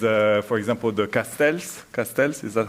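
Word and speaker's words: castells: living heritage and uh for example the castels castels is that how you pronounce them the towers the human towers Yeah.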